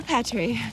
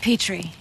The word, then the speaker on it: Petri: Rob and Laura Patri. We pronounce it Petri actually. Oh, like the dish.